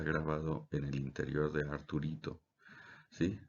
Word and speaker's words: Arturito: en el interior de Arturito. ¿Sí? Se pronuncia como si fuera Arturo, Arturo pequeño, Arturito, pero es R2D2, R2D2, ¿sí?